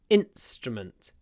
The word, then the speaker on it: instrument: musical instrument stress on the first syllable instrument instrument and because of the S uh which is unvoiced the in gets clipped in p strument and the vowels kind of disappear so let's make them